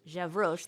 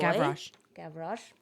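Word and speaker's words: Gavroche: But in Victor Hugo's novel he has Javro that little boy Gavro.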